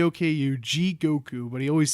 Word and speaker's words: Jigoku: damn it also if i say jing goku i don't know why my brain likes aang and n yeah for some reason i'm saying it wrong he always adds an n it's j i g okay you g